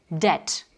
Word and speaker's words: debt: Le B dans les mots tels que doute et dette, on va dire doubt, debt.